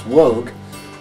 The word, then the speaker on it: Woog: Woog, how are you today? Woog. Well, first of all, it's Woog. Everybody pronounces it wrong.